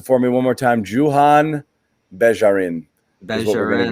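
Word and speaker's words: Juhann Begarin: Pronounce it for me one more time. Johann Begarin.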